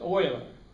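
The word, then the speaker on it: Euler: leonard oiler boiler oiler e-u-l-e-r pronounced oiler he was only about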